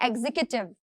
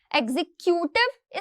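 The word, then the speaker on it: executive: Next word है एग्जीक्यूटिव। एग्जीक्यूटिव इस तरीके से प्रोनाउंस नहीं करना है, एग्जीक्यूटिव इस तरीके से प्रोनाउंस करना है।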